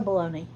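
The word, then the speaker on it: bologna: you were very quiet it spelled like balone I was just like yeah b o l o GNA a okay it was just like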